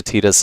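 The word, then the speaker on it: Tidus: Sound really pretentious and all, but yeah, I I went from calling him Titus to Tetus as well.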